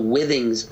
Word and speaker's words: Withings: It's called the Withings scale. It's spelled with things, all one word.